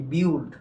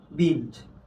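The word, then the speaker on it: build: যেমন দেখো বিল্ড, কিন্তু আমরা উচ্চারণ করি কি? বিউল্ড। কি উচ্চারণ করি? বিউল্ড, কিন্তু এটা উচ্চারণ হবে কি? বিল্ড।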